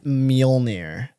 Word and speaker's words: Mjolnir: It's pronounced what it's called. Mjolnir.